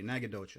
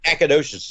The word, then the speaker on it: Nacogdoches: Did I pronounce that correctly? Nacogdoches.